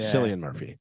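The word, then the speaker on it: Cillian: or movie uh movie Killian Murphy yes Oppenheimer San Murphy oh that's how you pronounce it yes I believe so yeah uh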